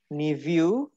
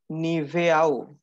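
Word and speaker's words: Niveau: আর নাহরি মেসেন মানে হচ্ছে আফটার দা ইটিং নিভিউ ডাস নিভো নিভোস দেখেছো প্রোনাউন্সিয়েশন গুলা কেমন এটা যদি আমরা মানে দেখে প্রোনাউন্সিয়েশন করতে যাই হওয়া উচিত হচ্ছে নিভেও বাট এটা নিভো ডাস নিভো ডি নিভোস ডাস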